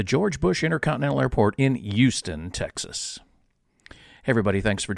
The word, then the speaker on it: Houston: he informs me that the Texas locals pronounce it Houston. That's that the H is silent.